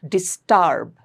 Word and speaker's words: disturb: Disturb. It's not disturb. Don't Don't make it an a sound.